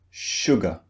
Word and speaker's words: sugar: appears in words now the word sugar contains two syllables this means two beats suga now one of these syllables is stressed the other syllable is unstressed which syllable do you think is unstressed sugar sugar it's the second syllable and in the second syllable we have the sound uh the target sound sugar sugar so this